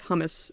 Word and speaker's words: hummus: That's why we pronounce hummus so weird. There's supposed to be a geminated M in it, and we can't hear it because English brain crashes.